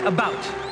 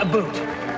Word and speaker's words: about: French not American and I pronounce it about not a boot I can proudly sew